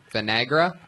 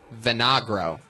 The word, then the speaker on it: Vinagro: Vinegra? How do you say it? Vinagro.